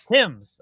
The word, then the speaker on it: Thames: Tim's. Okay, it is. All right. Thames.